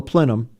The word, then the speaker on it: plenum: they've ordered what they call a plenum that's the right pronunciation and they order these